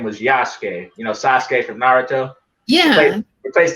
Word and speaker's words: Yasuke: His name was Yasuke, Sasuke from Naruto. Yeah. Replace the S with the Y. That's how you say his name, Yasuke.